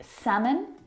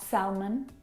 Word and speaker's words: salmon: letter L in them words like salmon not Selman half nut how would talk walk all of these words have a silent L in them which makes